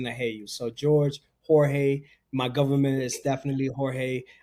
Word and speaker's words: Jorge: bringing to you guys George and I know you said George no Jorge make sure that you say it right I know we start